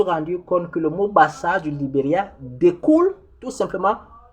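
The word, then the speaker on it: Bassaa: Lorsque nous doublons la voyelle, nous donnons le son R. Parce que c'est Bassar.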